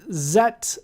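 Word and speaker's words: Zett: z4 but of course they didn't pronounce it z4 if you were in germany uh but um they would have said zet and then i looked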